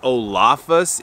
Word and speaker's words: Olafus: Pals down at olafas I believe it is pronounced olafas it is o-l-a-f-u-s but it's a company